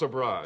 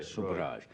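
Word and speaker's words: Sobhraj: And when you write about this guy, is his name pronounced so Charles Subraj? Subra. S OJ. S O B H R A J. Subraj.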